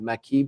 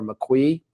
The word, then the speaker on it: maqui: have you ever heard the the Maqui berry or Mac we there's two different ways to pronounce and there's no I've